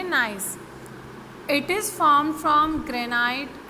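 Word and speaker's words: gneiss: सो marble, slate, nice, इसे आप pronounce करेंगे नाइस।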